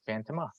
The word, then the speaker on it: Fantomah: Now we know the first female is Phantoma. And it's spelled weird, but you know it's based out there because it's Fantomah.